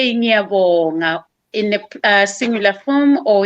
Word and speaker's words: ngiyabonga: We say ngiyabonga in the singular form, or in plural form we say siyabonga.